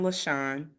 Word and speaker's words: Lasean: Now I'm going to let you pronounce your last name. My stage name is Lasean, and Lasean is my middle name. Okay. We're going to go with Lasean.